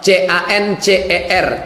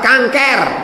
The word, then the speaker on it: cancer: Ini kata dokter, kalau tidak dioperasi dibuang nanti membesar kista menjadi cancer, C-A-N-C-E-R, cancer. Cara membacanya cancer. Orang kita payah nyebut cancer, kenapa? Kanker.